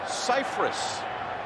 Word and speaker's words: Cypress: Everyone's pronounced his last name incorrectly. It's Cypress.